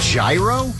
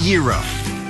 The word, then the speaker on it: gyro: foods is it the gyro is it the hero nope number 46 is pronounced the gyro because the meat is